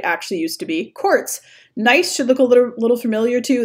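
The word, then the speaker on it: gneiss: used to be quartz nice should look a little familiar - that's the it's actually pronounced nice G and EISs I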